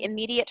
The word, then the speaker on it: immediate: so could you say immediate for me one more time immediate good immediately and when you first said it to me it almost sounded like initiate like it had a j in it but but you pronounced